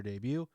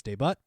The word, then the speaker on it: debut: slow king make their debut sorry i'm pronouncing that incorrectly it's debut also for the first